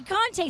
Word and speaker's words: Conte: Am I pronouncing it right? Yeah, you're right. Okay, Conte.